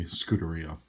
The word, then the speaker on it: Scuderia: And I may say Scuderia because that's how I kind of want to pronounce it based on my reading of it, but as I believe if you're Italian you would say Scuderia.